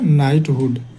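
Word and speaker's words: knighthood: इसका पूरा नाम होता है ना नाइटहुड। नाइटहुड है ना? नाइटहुड। देखो ना यहां इंग्लिश में लिखा भी होगा। नाइटहुड। यहां लिखा हुआ है नाइटहुड। के साइलेंट हो जाता है तो नाइटहुड नाइटहुड की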